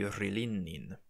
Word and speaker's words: Rilinin: I don't know why it's saying the stress is on the first syllable for this second form. It should be Rilinin.